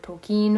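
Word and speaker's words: Tolkien: The Hobbit beforehand but JRR toen or token which I figured out is the correct way to pronounce his name was just a really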